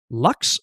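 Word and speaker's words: LUKS: So, I'll run sudo crypt setup lux format. Lux is spelled ls and that stands for Linux unified key system.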